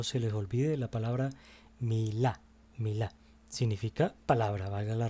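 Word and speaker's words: מילה: Y esta palabra se pronuncia de la siguiente manera: Milá. O sea, que significa palabra. Milá significa palabra.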